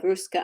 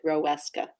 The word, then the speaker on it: Roeska: spelled because obviously it i honestly would have pronounced your name instead of ruska i would have pronounced it roweska yes and i knew